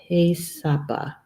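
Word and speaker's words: He Sápa: The Black Hills, Hisapa, or is it Haysapa? Haysapa? I think that's the correct pronunciation. The Black Hills, Haysapa.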